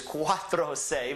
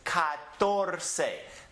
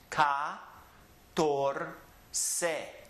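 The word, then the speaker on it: catorce: say Doce Trece I wish it was Quatro say but it's not it is cut door say let me step out the way here and look at it carefully cut door say it's three syllables car door say cut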